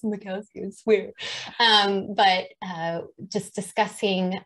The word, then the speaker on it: Machowski: I'm going to say his name wrong because I said it wrong for too many years. Marty Machowski. Is that right, Amy? Yeah. Okay. I think it's Machowski. It's Machowski.